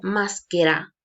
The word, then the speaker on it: maschera: Tengo escrito en italiano maschera, ¿sí? Pero pronuncio maschera y significa máscara, ¿ok?